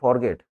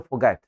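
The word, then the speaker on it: forget: ये जो शब्द है इसमें अगर मैं GET लगा दूं तो आप इसको बोलते हो फॉरगेट। फॉरगेट नहीं, ये शब्द है फोगैट। रै को कंप्लीट साइलेंट रखना, फोगैट इट, फोगैट।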